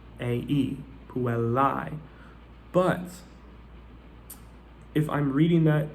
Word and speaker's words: puellae: The A-E diphthong is pronounced I, right?